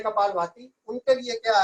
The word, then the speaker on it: कपालभाति: चली जाती है, इसलिए कपालभाति से फायदा होता है। लोग कपाल भारती कह देते हैं, तो उच्चारण पर विशेष ध्यान दें।